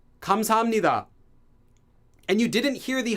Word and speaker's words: 감사합니다: So people aren't going to say 감사합니다, they say 감사합니다. The H sound disappears.